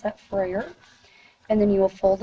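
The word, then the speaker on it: Frayer: side that says Freyer model, that's how you pronounce that, Freyer, and then you will fold it over across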